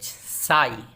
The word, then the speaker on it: sigh: Example है SIGH साई, देखिए GH last में है, साई आह भरना।